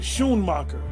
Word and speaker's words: Schoonmaker: So SCH, You would really pronounce it Schoonmacher.